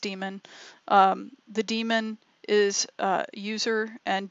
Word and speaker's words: daemon: default it's saying that the daemon and this is pronounced demon the demon is user